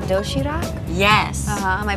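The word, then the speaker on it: 도시락: healthy variety of neatly packed food it's called doshirak yes am i pronouncing that right you're very good you can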